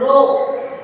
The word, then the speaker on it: rho: So that we call it as rho, R-H-O or R-O-W for your pronunciation, right?